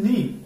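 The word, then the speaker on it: know: নো, উচ্চারণ হবে নো, এখানে ডাব্লিউ এটা টু সাইলেন্ট।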